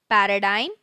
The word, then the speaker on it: paradigm: Moving on to the eighth word for today, focus on the pronunciation again. Paradigm, paradigm, which is a typical pattern or example of something used as a model.